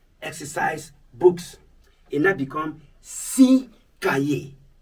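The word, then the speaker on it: six: It now become 6 cahiers. 6 cahiers. No more 6. The S is silent when the number is followed by a word beginning with a consonant.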